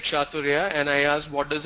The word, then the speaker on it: Chathurya: Chaturya. How do you spell it?